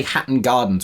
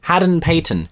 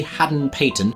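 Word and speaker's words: Hadden-Paton: Oh, I always get his name wrong. I always end up calling him Harry Hatton Gardens, which I'm pretty sure was a heist. I need to Google this. Haden-Patton.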